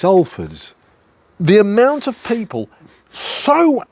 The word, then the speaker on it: Halfords: How we pronounced Halfords or Halfords. Halfords. It's Halfords.